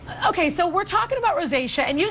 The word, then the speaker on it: rosacea: Rosacea? Rosacea.